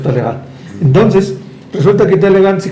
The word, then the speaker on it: Talleyrand: Se escribe Talleyrand, pero se pronuncia Talleyrand.